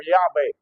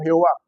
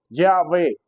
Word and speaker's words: Yahvé: La YHWH, eso se pronuncia en hebreo como Yahvé. Las traducciones no correctas, hechas al español, le pusieron Jehová. Eso no existe en el hebreo. Yahvé es la pronunciación correcta de Dios.